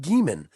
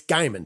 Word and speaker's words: Geiman: It is spelled Geiman, but it's not Geiman. It's Geiman. So Gary Geiman.